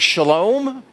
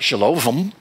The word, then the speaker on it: shalom: For example, when you come to the Hebrew word shalom, it has Vav in it. It's not shalovim. Shalovim.